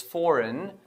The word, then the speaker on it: foreign: gave you which was foreign so here G is before n so whenever G is before n g is going to be silent such